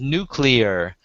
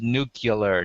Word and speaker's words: nuclear: like Nu new clear but it's pronounced nuclear and the guy cannot say it he gets up in front of the microphone and talking to millions of people and says nucular nucular n and it just